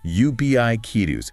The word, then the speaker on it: ubiquitous: Practice it with the emphasis there. UBI kitus. If you can nail that central stress, the rest of the word just flows.